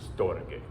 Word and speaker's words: storge: I originally didn't know how to say storge, so I did one of those Google pronunciation things, and it's like storge.